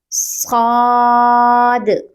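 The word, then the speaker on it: صاد: It has a thick sound. We will pronounce it with full mouth. Saad.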